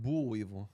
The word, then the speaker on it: boll weevil: A boll weevil? I don't know if I'm pronouncing that. That animal? You think Yep. it's actually pronounced bull weevil?